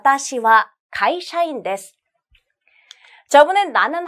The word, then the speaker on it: は: 나와있는 요 골자는 요 하라고 읽기 도 하지만 와 라고 발음하기도 합니다 자아 라고 발음할 때는 뭐 뭐 은 몸 얻은 이라는 주격 조사로 사용할 때 요 그래서 오늘은 요 얘를 와 라고 발음하고 뭐 뭐